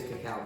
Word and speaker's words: cacao: called you almost Coco forget Coco but remember Coco it's called C cow okay it's a cacao pod okay cacao a cacao